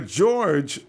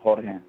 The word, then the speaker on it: Jorge: Ronbo, my name is when you pronounce it, supposed to be pronounced in Spanish, so it's Jorge.